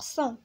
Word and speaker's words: sans: هنا عندنا S A N S كتنطق صون، هنا S A N G كتنطق صون، وهنا C E N T كتنطق صون، وهنا S E N S صون، وهنا S E N T صون.